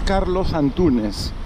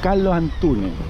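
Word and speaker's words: Carlos Antúnez: Porque no es Carlos Antunes, nadie te va a pronunciar así, están así, Carlo Antune, esa es la pronunciación local.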